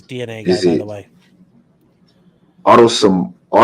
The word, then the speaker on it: autosomal: Autosomal? How do you say that word? Autosomal.